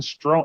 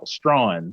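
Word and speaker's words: Strachan: guy i'm scroll down this guy named owen strong strong that's how you pronounce his name okay i was seeing him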